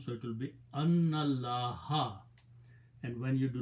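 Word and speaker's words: أَنَّ ٱللَّٰهَ: So you do not pronounce this alif, pronounce noon with the lam, so it will be annallaha.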